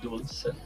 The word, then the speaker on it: Dulce: Like Dolce and Gabbana, but we pronounce it with a U, Dulce.